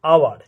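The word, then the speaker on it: hour: যেমন অ্যান আওয়ার, এখানে হাওয়ার উচ্চারণ নয়, এইচ এর উচ্চারণটা উজ্জ্ব থাকে, অ্যান আওয়ার।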